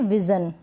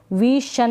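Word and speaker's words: vision: फिर है ये विजन, यहाँ पर विजन को जन पढ़ रहे हैं SION को, ठीक है, विशन नहीं पढ़ रहे हैं, यानी इस SION को शन नहीं पढ़ रहे हैं।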